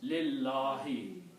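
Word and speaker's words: لِلّٰهِ: And when you pronounce these together, you do not pronounce this alif here. It becomes lillahi.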